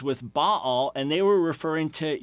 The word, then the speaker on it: Baal: and it has to do with the word Baal. Now, you'll see this as a proper name, B-A-A-L. You normally pronounce it Baal, and you know him as